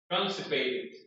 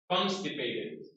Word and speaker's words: constipated: Next sound. How do you say that word? Constipated. Constipated. Okay? Constipated. The sound will be T, small e, T.